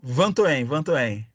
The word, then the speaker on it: Vatoen: Como é que se pronuncia seu nome? Van Toen.